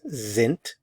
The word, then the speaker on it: sind: Notice the pronunciation of the S, z, sind. Notice the pronunciation of the D, sind.